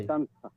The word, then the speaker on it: distanza: distanza, জেটের উচ্চারণ সর দিস্তানজা মতো হবে, তাহলে দিস তানসা।